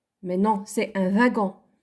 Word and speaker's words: wagon: Il y a des gens qui le prononcent un wagon. Mais non, c'est un wagon.